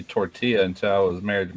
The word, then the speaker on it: tortilla: understand it my God tortilla just think of ya at the end tortilla yeah yeah now I